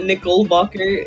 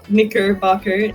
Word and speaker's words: Knickerbocker: His name is not Nickelbacher, it is Knickerbocker, just as you corrected Prosecutor Gabby on her pronunciation of Knickerbockle.